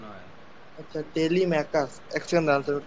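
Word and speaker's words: Telemachus: মাই সন mine নয় সান সান মাই ওন টেলিমাচুস টেলিমেকারস টেলিমেকারস স্যার এটা বাট ম্যাকাসটা ক উচ্চারণ হয় টেলিমেকাস এক সেকেন্ড উচ্চারণটা বাংলা লিখে নিচ্চার টেলিমেকাস টেলিকাস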